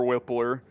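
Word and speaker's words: Wypler: are asking Adam says Luke wipe or whippler it is whippler but uh you know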